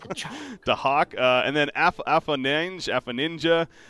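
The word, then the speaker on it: Afoninje: Dahak, and then Afaninja, apparently is supposed to be pronounced Afanin, and then people just put the J at the end, so we can go Afanin or Afaninja.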